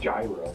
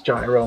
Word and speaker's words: gyro: Gyros. Gyro. That's how they say it. It's not gyro. It's gyro, man.